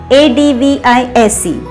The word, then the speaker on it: advise: Let's see, ADVISE. And this advice is pronounced as advise. In the end, the sound is Z.